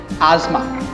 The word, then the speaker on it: asthma: The correct pronunciation is asthma.